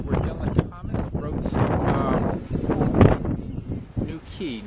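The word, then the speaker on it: New Quay: This is where Dylan Thomas wrote some New Key, not New Way, New Key.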